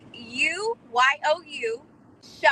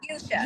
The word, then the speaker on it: Yusha: Listen, I'm super excited that you and say his name for me. It's like You, Sha. Uh-huh. So Yusha. Yusha.